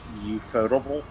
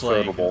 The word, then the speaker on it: Ufotable: In Japan, they straight up say UFO as UFO. So like, UFO. Well, yeah. But well, like I mean, either way, like I thought it was Ufotable.